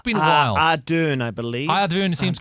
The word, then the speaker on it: Ardern: Ardern, I believe.